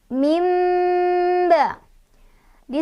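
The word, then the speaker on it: مِنْ بَعْدِ: Jadi cara bacanya adalah nun sukunnya diganti menjadi bunyi mim. Nun sukun atau tanwinnya diganti menjadi bunyi mim. Jadi nggak lagi min, tapi mim, ya, ke mim.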